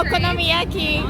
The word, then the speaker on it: okonomiyaki: Yaki I think I don't know how to pronounce it right yeah that's perfect yeah okonomiyaki so you get it from this Osaka yeah